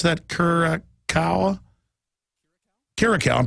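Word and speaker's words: Kiriakou: Karakow, I'm pronouncing it right.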